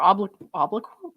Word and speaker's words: obloquy: exposes any person to hatred, contempt, ridicule, or obloquy.